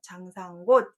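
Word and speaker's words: 장산곶: 땅을 곳이라고 하고 그렇게 지명을 써놓고 관 발음하지 않고 곳에서 장상곳 이렇게 읽고 있습니다.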